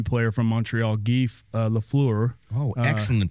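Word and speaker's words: Lafleur: a legendary hockey player from montreal gee uh lefleur oh excellent pronunciation it was how was the pronunciation on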